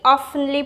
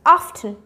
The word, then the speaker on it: often: Okay, the third one is very oftenly pronounced wrong, which is often. But it's not often, it's often.